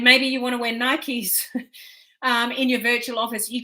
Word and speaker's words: Nike: And, to give you an example, Nike, some pronounce it Nike, I pronounce it Nike,